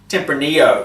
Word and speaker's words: Tempranillo: Tempranillo. I think it's silent. It's pronounced with a silent L.